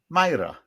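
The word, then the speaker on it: Máire: It's Gaelic or GI and it's supposed to be pronounced, I think, close to Myra.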